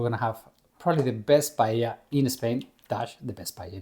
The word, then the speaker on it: paella: They don't say we Paella. say paella, but a lot of Americans they say paella. It's paella. Anyway, the paella it comes